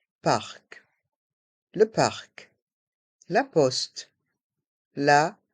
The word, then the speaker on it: parc: le parc le parc dans ce mot on prononce bien le C parc le parc La Poste